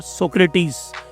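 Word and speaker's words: Socrates: सुकरात हिंदी में कहते हैं, सोक्रेट भी कहते हैं, बट सोक्रेटिस इनकी एग्जैक्ट प्रोनाउंसिएशन है।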